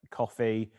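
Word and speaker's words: Ko-fi: a smaller percentage uh coffee which is pronounced you know that coffee they offer like single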